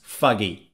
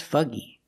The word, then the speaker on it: foggy: air and you cannot see very clearly that's foggy for example I'm not going to drive today